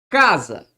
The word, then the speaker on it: casa: Ok, Marcelo, eu sei que ela ocupa a penúltima sílaba. Olha comigo. Casa. Qual que é a sílaba tônica de casa?